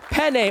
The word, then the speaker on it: Penne: We have Angela Hill and Jessica Penne or Penne. How do you say it? We were talking about that. How do you say your last? Either one's acceptable. Really? Yeah. You can go Penne.